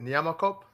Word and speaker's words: Nyamakop: Is it Nyamakop?